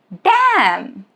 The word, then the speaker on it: damn: Rule is it is silent if it comes after M at the end of a word. That is the condition. Like in the word autumn or column or damn.